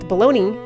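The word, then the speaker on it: bologna: if I were to say technically this is pronounced baloney that would not me that would not be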